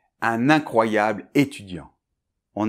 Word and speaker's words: incroyable: Donc je répète : nasale IN , ensuite CROY , et finalement YABLE . Donc un exemple : Un incroyable étudiant.